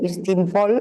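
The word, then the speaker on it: εἰς τὴν πόλιν: perquè Istanbul és l'abreviatura d'una expressió grega que és avui es pronuncia Istimpol, Istanbul, que volia dir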